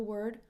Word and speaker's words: word: many songs have the word world in the title so word just like world has that er sound so it's not ward or world its word